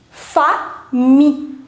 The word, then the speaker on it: famille: Whenever you will see the combination I double L in French, you will not pronounce double L. So it becomes fa mi, because you are not going to pronounce double L. So it's fa mi.